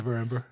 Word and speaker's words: Neverember: I always mispronounce that name. Neverember.